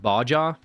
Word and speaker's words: Baja: It's pronounced Baja.